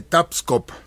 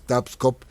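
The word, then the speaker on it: Tabscoob: Y bueno, hablemos de Tapscop real, si es que eh lo queremos pronunciar adecuadamente, Tapscop y es el nombre de un cacique de lugar, pero sabemos que cuando llegaron los conquistadores eh pues castellanizaron muchas de las expresiones de nuestros antepasados porque pues no tenían o no sabían la pronunciación correcta.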